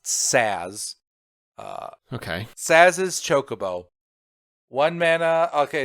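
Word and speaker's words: Sazh: Sazes. That if you're curious how it's pronounced, Saz. Uh, okay. Saz's Chocobo.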